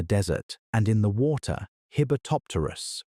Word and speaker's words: Hibbertopterus: And in the water, Hibbertopterus, pronounced h e b a top ter us, a sea scorpion, technically